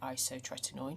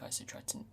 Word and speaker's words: isotretinoin: other day of the Isotretinoin. See, I said it right this time. I do think Isotretin, or whatever I said last week, sounded better. Anyway, I'm doing 1 every